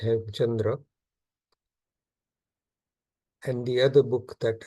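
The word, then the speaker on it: Hemachandra: him Chandra aara uh Wikipedia spells it hem kandra uh if or I suppose uh it's uh pronounced H Chandra and the other book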